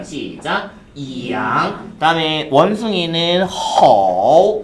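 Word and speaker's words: 猴: 허. 발음 시작.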